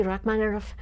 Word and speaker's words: Rachmaninoff: And then when I took Russian, I learned that the letter is actually a V, which looks like a B, but it's pronounced as though with 2 F's.